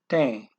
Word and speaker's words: tem: I know I mentioned that when tem, that you got that E hat M, so E becomes a long A instead of an E there.